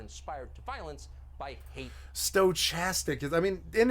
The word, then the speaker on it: stochastic: did get it right stochastic no it's stochastic castic with a K it's a k is